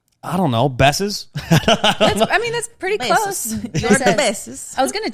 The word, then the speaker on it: Bessez: Bessez. Bessez. It's French.